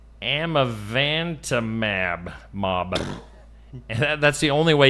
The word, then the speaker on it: amivantamab: The drug called amivantamab.